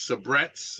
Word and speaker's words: Sabrett: Road and uh okay the last one is sabrettes is it Sabrett am I saying it right